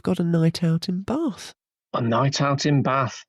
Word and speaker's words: Bath: I said Bath and you said Bath. But I guess Bath is correct because it's in the south.